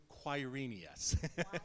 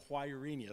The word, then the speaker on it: Quirinius: The word is Quirinius. You're going to come on to the second slide, and there's going to be the word Quirinius, so that's how you pronounce that.